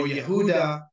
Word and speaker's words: Yehuda: judaic religion judaic or Yehuda that is the correct pronunciation with the Y not with the J because there's no J in Hebrew what is happening is